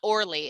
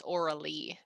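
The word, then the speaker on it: Aurélie: how it's said okay it's not orly it's orally okay so i will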